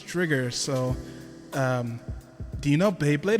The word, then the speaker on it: Drigger: Because I've seen and hear people pronounce it Driger, and I'm like, unfortunately, it's Drigger.